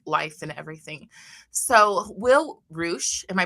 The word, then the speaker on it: Reusch: So Will Roo, am I pronouncing that right?